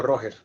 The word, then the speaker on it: Rogers: O Roger. Rogers, R-O-G-E-R-S. Por eso, pero se pronuncia Roger o Roger.